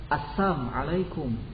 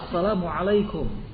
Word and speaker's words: Assalamualaikum: e sering seperti itu misalnya saja kata Asalamualaikum mereka ganti dengan kata apa assamaikum coba kalimat yang benarnya adalah Assalamualaikum tapi mereka ketika mengucapkan salam bukan Assalamualaikum melainkan assam alaikum kebinasaan